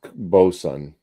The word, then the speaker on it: boatswain: I guess it's Bosun. I guess is how it's pronounced, Bosun, but it's Boatswain to me.